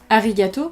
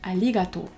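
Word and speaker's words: ありがとう: a merci et bon on dira pas arigato on dira Ali gâteau al alligato donc pour manger on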